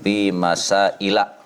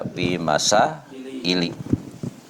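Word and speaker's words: مسائلَ: Jadi kalau isim ghairu munsharif wazannya itu mafaila, maka dia dikasrohkannya itu dengan fathah, jadi dibacanya babun fi masaila. Jadi nggak boleh dibaca fi masaili.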